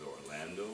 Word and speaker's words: Orlando: it my name is Orlando or LA in do just like Orlando Florida and just